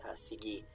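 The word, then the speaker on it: σιγή: Sielpi, it's one way to pronounce it in this era of Greek, and the other is sigi.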